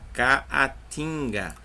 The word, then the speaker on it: caatinga: A palavra caatinga, ó, ca, a, tim, ga, caatinga. Então, ó, eu tenho dois A's, só que ficou um A em cada sílaba.